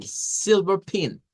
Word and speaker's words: silver: Esta más corta es como en silver pin.